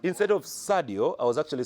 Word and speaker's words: Sadio: Instead of Sadio, I was actually saying Seydou. Instead of Sadio, I was saying Seydou. And guys were like, Otai, it's Sadio. Don't you watch Premier League?